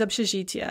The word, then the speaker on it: общежития: But we're going to pronounce that as kind of a ya, so из общежития.